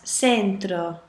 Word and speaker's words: centro: a sentence you pronounce it as for example c-e-n-t-r-o is spelled sorry it's pronounced fintro Centro but if